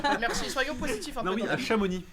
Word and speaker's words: Chamonix: Chamoni qui s'écrit Shamonix mais le X ne se dit pas.